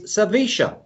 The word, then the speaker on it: Sevilla: argentina and he says the right pronunciation of sevilla or sevilla is sevisha so that's why i